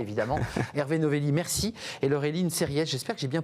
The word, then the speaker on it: Laureline Serriès: Et Laureline Serriès, j'espère que j'ai bien prononcé votre nom.